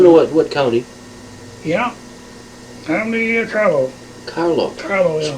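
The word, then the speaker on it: Carlow: Family Carlo. Carlo. Carlo, yeah. Spell it.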